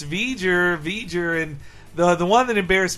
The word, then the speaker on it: V'ger: And I was the one correcting her on like it's V'ger, and.